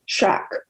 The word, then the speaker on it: Shakespeare: was spelled almost always without the E in Shakespeare, meaning the first syllable was pronounced shack.